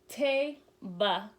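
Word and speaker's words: תבה: And we have this, and ark would be teba. That's how you would pronounce that.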